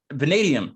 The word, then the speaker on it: vanadium: It's Vanadium, correct?